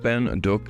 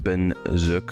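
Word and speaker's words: Bến Dược: So I'm told that Bin Duoc is actually pronounced Ben Zook.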